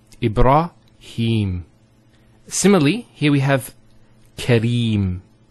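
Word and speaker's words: إبراهيم: sound next word Ibrahim so here a rah notice here the raw fat ha followed by the Elif once again it's a a long vowel e bra no e bruh libera libera and then he Ibraheem he the Hat has a Cara followed by the air so here is the elongation of the e sound its he him Ibrahim similarly here we have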